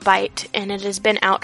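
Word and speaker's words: Byte: So apparently there's a new app out called Bite, and it has been out for 24 to 36 hours as of now, and it's spelled B-Y-T-E.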